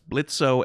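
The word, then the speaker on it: Blitzø: that sort of passion I'm Blitz the O is silent what oh oh thank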